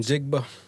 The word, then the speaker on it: Njigba: I can't pronounce his last name either, but I'm also bad with name. Enjigba.